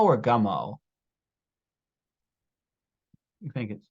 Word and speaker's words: Gummo: Do you say Gummo or Gummo?